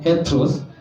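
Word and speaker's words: ἕτερος: Hivyo tu inatamkwa heteros, bali inamaanisha tofauti.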